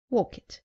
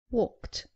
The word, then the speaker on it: walked: Saying walk it. It is walked.